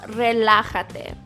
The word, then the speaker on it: relájate: Next we have relájate. This one means relax. That J that you see there in the word is pronounced like the English H sound.